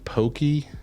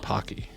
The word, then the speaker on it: Pocky: Buying pokey in the grocery store. What's pokey? It's Japanese like I think you're talking about Pocky. That's what she wrote. No, Pocky is spelled P-O-C-K-Y.